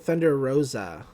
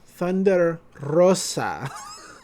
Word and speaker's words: Thunder Rosa: and they pronounce it thunder rosa thunder rosa thunder rosa when it's you know thunder rosa she's hispanic roll that r it's not hard you can do it